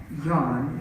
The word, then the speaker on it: Jan: And so to wrap things up, we have Jan. It looks like non, but it's pronounced Jan, but that is very opposite of his personality.